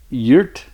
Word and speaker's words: Geert: So it's g e er t which looks like gear but uh yeah we say much softer.